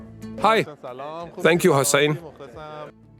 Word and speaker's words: Hossein: They said your name is Hussein, right? I said I started teaching them how to pronounce my name properly. They would say Hussein. I corrected them. No, with an O. That's Hussein. Eventually, they started coming up